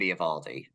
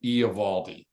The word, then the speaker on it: Eovaldi: Yeah, and you brought up a guy for a lot of teams that I have consistently put Michael Wacha ahead of Nathan Eovaldi.